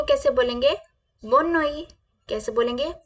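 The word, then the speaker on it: bonne nuit: is good नाइट good नाइट को कैसे बोलेंगे बनोई कैसे बोलेंगे बनोई बनोई बनोई बनोई please repeat with me Banoi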